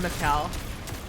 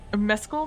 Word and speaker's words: Mescal: No, it's not Mescal, because that's how a normal person would pronounce it. Oh, behind Lamau. That's a shame. Because it's Mescal, maybe is how he pronounce it.